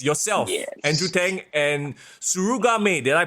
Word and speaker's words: Mei Suruga: Andrew Tang, and Suruga Mei. Did I pronounce that right? Yeah, Mei Suruga.